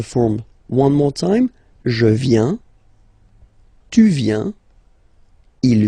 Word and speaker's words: viens: First form, je viens. Final S not pronounced. Je viens. Remember, I-E-N, ien.